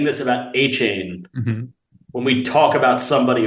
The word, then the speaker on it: Achane: That's how you pronounce it. It is Achane.